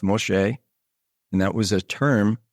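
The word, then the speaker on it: משה: And that name, M-S-E, or Moshe, which that is Moses, is spelled Mem, Shin, which is M, Shin, S, or S-H, if you will. And then Hey, which is E. It's pronounced Moshe.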